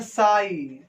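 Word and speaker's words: psi: त्रिशूल रहता है, इसको पढ़ते हैं साई। पी यहां पर साइलेंट होता है।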